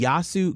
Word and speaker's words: Yiasou: to experience here in Charlotte and it's the yasu Greek festival which I learned how to say